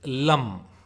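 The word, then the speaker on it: ಲಂ: and it is pronounced like L-U-M in lump.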